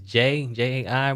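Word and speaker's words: Jai: I think this is J-A-I. But you pronounce it J.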